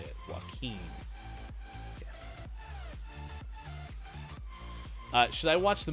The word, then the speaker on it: Joaquin: a joaquin phoenix is how you say it joaquin uh should i watch the movie candyland i